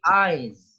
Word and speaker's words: eyes: help help beautiful.in bakar bacanya bukan es tapi eyes Hai baru berapu baru